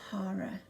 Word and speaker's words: hara: instincts where that is is your Hara H a are a and I spell it because people thought I was saying horror as in horror Center when in fact actually